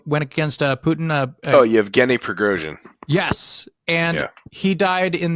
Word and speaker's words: Yevgeny Prigozhin: How do you pronounce his name? The Russian guy that kind of like went against Putin. Yevgeny Prigozhin.